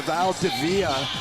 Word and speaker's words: Valdivia: And listen, T-Rex, I have to apologize to the Valdivia family. We've been corrected on the pronunciation, and I appreciate you doing that, but it's Xavier Valdivia.